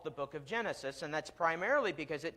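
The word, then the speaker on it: γένεσις: Greek is the word genesis. It's Genesis, just with a hard G at the front.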